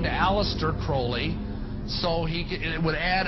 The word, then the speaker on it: Crowley: learned about was Alistair Crawley he likes to BR have his name pronounced Crowley to rhyme with holy and uh the Satanist